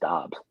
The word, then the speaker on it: Doubs: the way I look Doubs. at it. Huh? I like how you say Doubs. Doubs? What is it? I think it's just Dobbs. Dobbs? Like, Whatever. like Dobby the elf, but with an S.